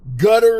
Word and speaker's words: Qatar: But the nation of Qatar, Gutter, if you want to pronounce it that way, depending on where in the world you live, Qatar, Gutter, it's called both names.